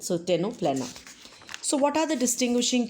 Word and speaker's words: Ctenophora: C is silent, so Ctenoplena.